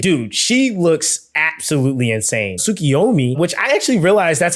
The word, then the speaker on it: Sukiomi: Sukiomi, which I actually realized that's how you pronounce this from the official Final Test live